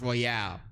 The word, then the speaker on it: Royal: It's like, so it'll be spelled royal, but it'll be pronounced Royale.